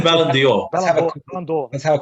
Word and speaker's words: Ballon d'Or: Well, I believe the pronunciation is Ballon D'Or, which is a French translation for Golden Ball.